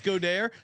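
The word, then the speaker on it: Goedert: yards for Sunday Dallas godair as CJ uh likes to pronounce the full French pronunciation Dallas goair 25 to one him getting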